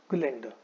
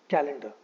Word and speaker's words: calendar: Now, a lot of the students pronounce this word as calendar. ठीक है. इस word का सही pronunciation calendar नहीं होता है. That is an incorrect way to say this word. इस word का सही pronunciation होता है calendar. It is calendar.